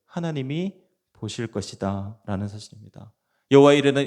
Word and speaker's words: 여호와 이레: 여호와 이레는 이 단어는 여호와 예라에라고 읽을 수 있습니다.